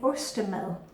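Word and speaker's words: ostemad: And this is called in ostemel. Ost is the Danish word for cheese, and mel, which is spelled mad, a mad. Ostemel is a piece of cheese on a piece of bread.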